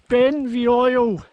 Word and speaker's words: Beinn Bheoil: there is the summer ben v oil i think it's pronounced i've been the oil